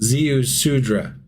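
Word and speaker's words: Ziusudra: Zeusudra. Zeusudra? Rhymes with Mudra?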